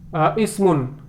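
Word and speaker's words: اسم: Ismun means name. Ismul waladi Muhammadun wasmul binti Zainabu. See, here ism has been pronounced, the hamza of ism has been pronounced because it is coming at the beginning, and here hamza hasn't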